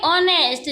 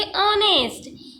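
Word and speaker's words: honest: ही वास ऑनेस्ट students यहां पर हम इसको क्या पढ़ेंगे ऑनेस्ट जो ये एच है वो साइलेंट रहेगा ये एज साइलेंट रहेगा इसको क्या पढ़ेंगे ऑनेस्ट ही वाज ऑनेस्ट generous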